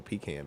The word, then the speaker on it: pecan: I don't want no pecan pie. Like toucan, Yeah, pecan. like the bird.